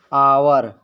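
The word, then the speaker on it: hour: वो साइलेंट रहते हैं जैसे आवर लिखा है हावर लेकिन इसको पढ़ा जाएगा आवर क्योंकि एच साइलेंट रहेगा इसमें भी एच साइलेंट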